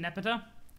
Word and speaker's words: Nepeta: are a wellspring of information about it you pronounce it nepeta okay cool cool i kind of like nipido it implies that nepa is above the baser